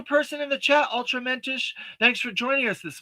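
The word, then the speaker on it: mensch: Uh, it's menish. Okay, thank you. Pronounced like wrench. Um, mench. I gotcha. Thank you. Like the Jewish term, a mench.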